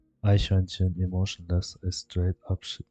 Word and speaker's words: Eichhörnchen: Eichhörnchen. Squirrel. But maybe the pronunciation of my squirrel is always horrible.